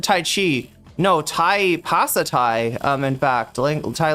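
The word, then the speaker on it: ภาษาไทย: No, Thai Pasatai.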